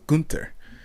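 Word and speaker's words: Günter: And I went and chose Gunter, but it was supposed to be pronounced Gunter with an umlaut. You're supposed to put an emphasis on the U, because it has an umlaut on the U, so Gunter.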